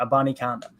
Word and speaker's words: Abanikanda: Stopped running back uh Israel Abanikanda. Got it. All right. Had to go back to Daryl's pronunciation there. Abanikanda.